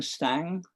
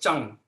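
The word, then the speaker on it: Tsang: I went in Ming Stang. How do you pronounce T-S-A-N-G? We call it Zhang.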